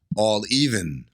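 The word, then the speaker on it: A11even: Is it all 11? Is it pronounced 11 but spelled differently? This is more cryptic than Elon Musk's baby. I'm going to say all 11. All even. All even. No. It's all even.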